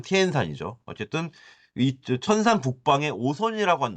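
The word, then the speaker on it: 天山: 아까 천산 산맥했던 천산을 이제 중국어 발음은 티엔산이죠.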